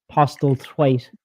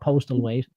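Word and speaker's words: Postlethwaite: Um, as Lennena said, like I think Jude Posel, Postal Tweight is what how you really pronounce his name, not Postal Wait.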